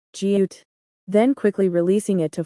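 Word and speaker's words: 지읒: The letter name is jiut. It is a plain sound pronounced by touching the tip of the tongue to the hard palate. It is the same as the initial sound produced when pronouncing ja.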